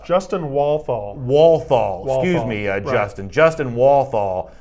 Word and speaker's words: Walthall: Walthall. Excuse me, Justin. Justin Walthall. I apologize for the mispronunciation there.